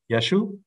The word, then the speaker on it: Yeshu: think it's likely that if you want to have a really strong Galilean accent and say Jesus you're gonna get yeshu with two short vowels and no iron the iron might have